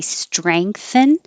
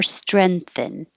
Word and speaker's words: strengthen: th strength strength strength so that's why there's both options for if you want to say strengthen or strengthen strengthen or strengthen you have options these are um the